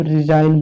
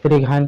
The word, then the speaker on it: resign: तो इसको हम रिजाइन पढ़ेंगे, है ना, इसको रिगाइन पिगाइन नहीं पढ़ेंगे।